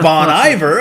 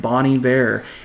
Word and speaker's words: Bon Iver: he was the winner they're like Bonnie Bear and everybody on Twitter was like who is Bonnie Bear everybody thought it was Bonnie Bear for the longest time but uh yeah Bonnie